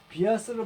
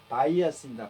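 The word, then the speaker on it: bias: 턱수염이고 would not have a care that much라는 것은 많은 부분에 있어서 신경을 썼지 않았겠냐라고 하는 그런 뜻이고 비아스를 발음하시면 안 돼요. 바이어스입니다.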